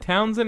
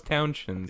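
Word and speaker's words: Townshend: townin is that Townsen is it Townsen or townend I thought it was townin the sh is silent yeah it's like his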